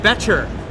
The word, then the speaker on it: Boettcher: am joined by beter that's a beter silent o as opposed to my